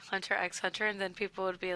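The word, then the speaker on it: Hunter × Hunter: Yeah, I know because people would say Hunter x Hunter, and then people would be like, "That's not how you say it." No, it's actually the X is silent.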